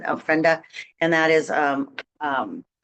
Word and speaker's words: ofrenda: art show we have the ofenda ofrenda that how you pronounce it ofrenda and that is um